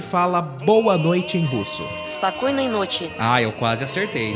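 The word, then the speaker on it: Спокойной ночи: Spokoynoy nochi. Ah, eu quase acertei. É, então. É Spokoynoy nochi. Spokoynoy nochi. Spokoynoy nochi. Que nós falamos mesmo? Eu falei Spokonoi.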